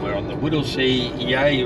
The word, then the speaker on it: Yea: on the Woodle SE yay road yay is spelled yeah so um we're not